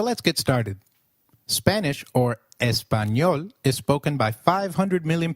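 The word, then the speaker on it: español: The letter A is pronounced as a as in father. Did you notice the letter in espanol? This letter is peculiar to Spanish. It is pronounced as ni like in canyon.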